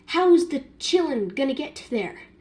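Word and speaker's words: Qilin: like, they were like, it's a Chillin. I did say Quiln, but in my defense, I read the Menagerie series, and I didn't hear it pronounced, so yes, I did not know it was pronounced a Chillin.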